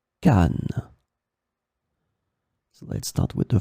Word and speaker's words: canne: In this lesson, we will see together two words that are written differently but pronounced the same way. Canne, canne.